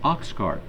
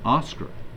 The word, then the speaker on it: Oscar: The flotilla staff officer for human resources mispronounced the new member's name as Oxcart. The name is Oscar.